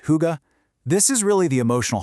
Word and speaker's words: hygge: Pronounced hygge.